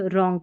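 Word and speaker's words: wrong: जब डब्ल्यू और आर साथ में आते हैं ना तो डब्ल्यू साइलेंट रहता है। जैसे इसको राइट रॉन्ग पढ़ेंगे।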